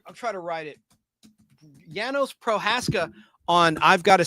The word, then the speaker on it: Janos: And for years I thought it was Janos proaka. It's not. It's Janos. I learned that from I've Got a Secret where they interview him and they call him Yanos. I guess the J is silent. Yanos.